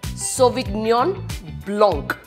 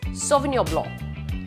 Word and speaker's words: Sauvignon Blanc: here's a popular one Soviet neon Blanc this is not it's sauvignon blanc the G silent the C silent and it's not Zinfandel